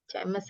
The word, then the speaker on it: chemist: Chemist atau kalau kita bilangnya itu apotek ya. Ya. Chemist kalau di UK, bacanya chemist pakai K.